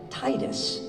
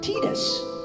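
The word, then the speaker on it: Tidus: was written like this so people always said titus huh yeah but it's actually pronounced titus because it wasn't until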